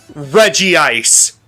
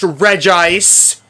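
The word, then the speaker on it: Regice: the shiny Pokemon we are hunting today is Reggie Ice. And I don't care if it's pronounced Rece.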